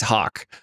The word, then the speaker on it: HOC: So HAWK is spelled HOC.